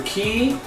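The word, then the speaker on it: Kei: Now, Ki. Are you sure it's Ki and not Kai? It's K-E-I, which is pronounced either Ki or K.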